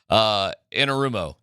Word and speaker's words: Anarumo: Anarumo. How am I doing on my pronunciation? Anarumo.